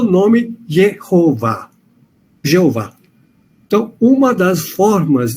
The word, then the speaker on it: Jeová: Por isso, quando na Idade Média se lia as consoantes de uma palavra e as vogais de outra, surgiu o nome Jeová.